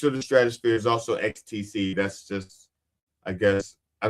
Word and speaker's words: XTC: XTC. It's spelled XTC, even though it sounds like ecstasy.